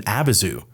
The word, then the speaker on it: Abyzou: heard it a bunch of times and us pronounce it. No, I'm saying I just said Abazu for the first time ever, and you immediately have to go look it up.